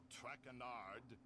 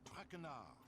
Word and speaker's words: Trenard: as for my name not tranard it is trenard tranard enough